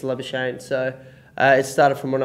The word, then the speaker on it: Labuschagne: in english um you know it's it's a love of shame so it started from when i was quite